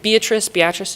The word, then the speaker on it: Beatrice: Anyone been to Homestead before in Beatrice? That's my hometown. Your hometown. Did I say it correctly, or is it? Okay. Beatrice, yep.